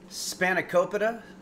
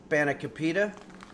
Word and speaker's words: spanakopita: henry's amazing greek style spanakopita or sometimes pronounced spanakapeda actually you can uh pronounce it by putting this stress on any one of the vowels there's or any one